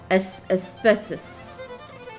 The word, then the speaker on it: Aesthesis: Say it like aesthetic. Aesthesis.